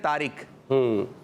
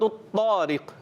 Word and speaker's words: الطارق: اس کا صحیح تلفظ ہے طا، سورۃ الطارق۔ کیا؟ جی ہاں، جب بھی ہم کوشش کریں سورتوں کے نام بھی لیں تو عربی تلفظ ہو، سورۃ الطارق۔ تو سورہ